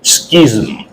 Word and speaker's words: schism: in your exercise book s c H I S M the word is Schism pronunciation is Schism okay so let's make